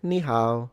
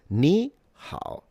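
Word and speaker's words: 你好: So, he said ni hao. So, it's it it's ni hao ni hao ni hao. So, the tones are gone.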